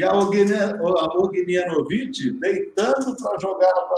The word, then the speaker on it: Ognjenović: Ognjenović.